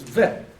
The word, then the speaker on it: bet: So it's be, it's because of the, in the middle. If it doesn't have that dot, it's vet, but it does.